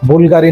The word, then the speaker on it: Bvlgari: বুলগারি নামের যেমন বি এর পরে ভি, কিন্তু আমরা উচ্চারণ করি ইউ, এরকমই চমৎকার একটা রহস্যময়তা এর ভেতরে আছে।